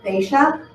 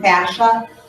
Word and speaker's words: fascia: We have fascia, or fascia, it's pronounced a couple different ways, and that is the